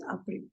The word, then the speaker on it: April: Now, if you see, the spelling is exactly the same as in English. But we'll pronounce it as April because A is pronounced as A in German. So it is April.